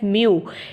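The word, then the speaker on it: μ: divide कर देते हैं द ग्रीक लेटर यह ग्रीक लेटर है हमारे पास म व्हिच इज प्रोनाउंसड एज म इज यूज्ड एज अ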